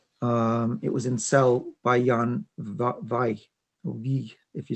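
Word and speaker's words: Jan Vijg: It was in Cell by Jan Vaj, if you say it correctly.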